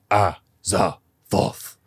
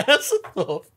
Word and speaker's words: Azathoth: out that she just keeps saying these three syllables over and over again. Ah, za, voth. In her incoherent incoherent babbles. What's wrong? I'm sorry, she just saw Azathoth.